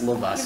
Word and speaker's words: Lavoisier: It's like Courvoisier, but it's Lavoisier.